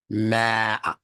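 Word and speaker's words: ماء: Ma, elongated. Ma. That means Allah is bringing specific attention when he gives it a medda or an elongation of the vowel.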